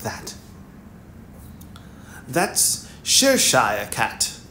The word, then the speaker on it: Cheshire: Cheshire, is how you say it. Cheshire.